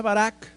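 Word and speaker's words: ברך: palabra bendecir viene una palabra hebrea que se pronuncia Barak que significa alabar felicitar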